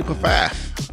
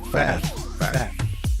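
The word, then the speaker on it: Pfaff: All joking aside, how do I actually pronounce it's f or faf? The P is silent.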